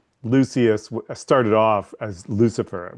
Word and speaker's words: Lucius: And then Lucia, how do you say it? Lucius.